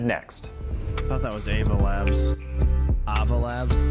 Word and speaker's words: Ava Labs: I thought that was Ava Labs.